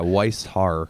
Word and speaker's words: Weishaar: Yeah, Weishaar. Yeah, got the Very German.